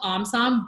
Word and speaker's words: OMSOM: First off, just want to say it's called OMSOM, but I will say what you did was you actually pronounced it the Vietnamese way, which is the origin of the word.